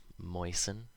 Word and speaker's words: moisten: So, of course, there are words where this happens, where the T is always silent, like these ones. Listen, soften, moisten, fasten, hasten, glisten, and often. You'll notice the endings of these all rhyme with in.